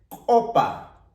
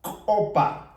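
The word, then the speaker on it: upa: Aquí tenemos otra palabra que es opa. Opa. Esta U eliminamos y se tendría que pronunciar con la O.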